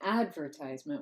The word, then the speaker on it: advertisement: how we say advertisement I say advertisement with stress on the first syllable the primary stress but tincture saying we